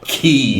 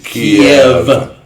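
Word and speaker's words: Kyiv: It is not Kiev. No. It is Kiev.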